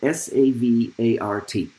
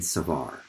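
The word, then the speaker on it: Savart: them and their last names are b-i-o-t and s-a-v-a-r-t and as we discussed these this result in the united states we pronounce those names b.o and savar so it's often called the bo savar law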